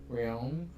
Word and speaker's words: Riom: again, there was an injury to Zach Riom. Yep. Ooh, I said it right. Riom. Think of Manon Riom. Yeah. That's not going to help. The first female goalie to play in the NHL. Same last name.